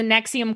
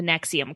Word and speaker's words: NXIVM: i'm i was thinking about that because the nexium cult guy apparently can speak like four languages